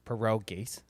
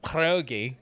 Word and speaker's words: pierogi: one thing I've seen you do videos on, Perogies. Oh, Now, again, and if you're really into it, people will be like, pierogi. Yeah. They get real into it. say it right.